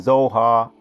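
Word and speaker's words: Zoar: Those other cities, let me go again for pronunciations. Admah, Zebohim, and Zohar, Bela. Zohar, Bela, that's 1 city.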